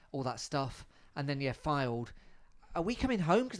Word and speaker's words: Fylde: Filled. I don't know. I don't think you say it like that. Fylde.